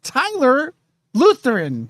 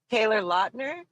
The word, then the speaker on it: Taylor Lautner: John Stamos and Tyler Lutheran. Is that what you say? From Twilight. There I am. Pretty boy. What? Who? Taylor Lautner?